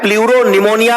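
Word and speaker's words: pleuropneumonia: PPLO को बोला जाता है प्लूरो निमोनिया लाइक ऑर्गेनिज्म। बेटा प्लूरो निमोनिया, पी साइलेंट होता है, प्लूरो निमोनिया लाइक ऑर्गेनिज्म।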